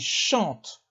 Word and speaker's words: chantent: chantons vous chanter ils chantent le ent ne se prononcent pas non plus il chante elle chante